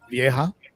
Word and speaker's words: vieja: Vieja. Vieja. Like an old lady in Spanish, it's pronounced vieja.